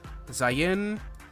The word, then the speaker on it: Zayin: I went and actually looked up how to pronounce all of the classifications yesterday because I was very confused. It's Zayin, Teth, Vav, Hey, or Hey, Vav, Aleph.